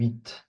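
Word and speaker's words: huit: Yes, we pronounce the T in 8, the number 8.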